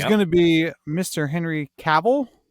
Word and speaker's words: Cavill: Henry Cavill, because he says it rhymes with travel. So it's not Oh, Cavill, it's Cavill.